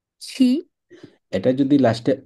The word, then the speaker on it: qui: এটা যদি হতো তাহলে উচ্চারণ হতো ক। que আর এটা যদি হয় তাহলে হচ্ছে কি। qui.